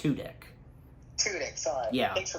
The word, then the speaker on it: Tudyk: I think his last name, I believe, is pronounced Tudyk.